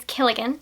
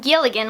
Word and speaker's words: Killigan: Our main guy is Killigan, not Gilligan with a G, but Killigan with a K, and I'm pretty sure those rhyme, so I'm going to pronounce it almost the same way.